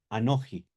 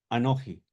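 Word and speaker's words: אנכי: Aní, anoji, tiene dos formas. Aní, anoi, recuerden siempre el texto de Amó, ya lo navi anoji, no profeta yo, ¿cierto?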